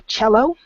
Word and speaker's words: cello: i can tell that is still a cello even though there's not an H in that that word I don't know where the word comes from but we do pronounce it as if it had a CH sound so cello and normally when we